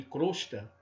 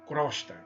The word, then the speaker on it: crosta: Em vez de pronunciarmos omelete, alcova e crosta, pronunciamos equivocadamente de forma aberta. Pronunciamos omelete, alcova, crosta, crosta terrestre. Não.